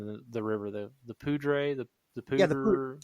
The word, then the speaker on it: Poudre: We went to the, I don't know how to pronounce the name of the river, the Poudre, the Poudre. Yeah, the Poudre.